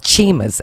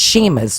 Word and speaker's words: Chima: corrected us they said it's not Chimas it's sheima although it's spelled CH so you want to